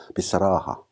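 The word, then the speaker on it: بصراحة: 그런데 여기서 주의할 점은 마지막에 타 마르부타는 주로 발음하지 않습니다. 끝까지 읽으면 비사라하틴이라고 읽을 수 있겠지만은 마지막에 타 마르부타는 발음하지 않는 습관이 있기 때문에 그 바로 앞에 모음 아까지 읽어주는 겁니다.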